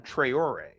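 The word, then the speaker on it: Traoré: It's Ibrahim Traore. It's French.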